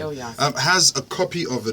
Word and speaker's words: Ilyasah: All right, so Ilyasah, that's the correct pronunciation, right? Ilyasah.